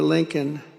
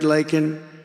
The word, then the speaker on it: Laken: never called and then he pronounced her name wrong remember he called her Lincoln remember that in Congress